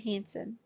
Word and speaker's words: Hanson: The incoherent demodulation of SSB-LM has been studied by Volker and Hansen. Volker is spelled Boelcker. Hansen is spelled Hanson.